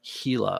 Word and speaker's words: Gila: name uh debate here Gila is pronounced Gila of course it is no silly I